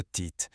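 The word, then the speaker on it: טית: Prenons le premier exemple, la lettre tit. Sa prononciation est importante. Elle se prononce comme le mot tête.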